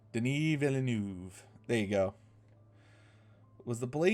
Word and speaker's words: Denis Villeneuve: And it's directed by a guy whose name I can never pronounce. Denis Villeneuve. Denis Villeneuve.